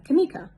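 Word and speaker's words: Kameeka: e e k a with a emphasis on the e sokka knee ka and then put it together tamika how simple and easy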